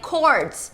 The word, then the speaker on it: chords: Chords, you should say chords.